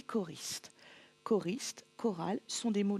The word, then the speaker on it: choristes: Ici, le graphème CH va se prononcer K, comme dans une chorale, des chœurs et des choristes.